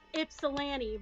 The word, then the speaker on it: Ypsilanti: Like, no, it is pronounced Ypsilanti.